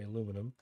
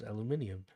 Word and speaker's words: aluminium: the I in, and now forevermore the Americans will say that it's properly pronounced aluminum. That is why Americans say, and Canadians unfortunately say, aluminum, and the rest of the world says aluminium.